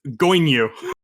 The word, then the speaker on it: Goibniu: that you were like takes a few minutes to process because it's Goinyu. So it takes more time to process because it's spelled like this, and you're just not used to how foxes write down stuff. Oops, that's the wrong chat. I did it in the wrong chat. It's Goibniu. Goinyu.